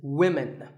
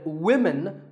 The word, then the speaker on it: women: learners of English is women. This is, of course, because of the English language's crazy spelling system. But remember that we say woman for one woman and women for the plural.